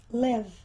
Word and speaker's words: live: E é interessante porque esse E nós não pronunciamos, live. É muito raro um E final ser pronunciado em inglês. Live, come, né? People, podem ver, não se pronuncia de forma geral.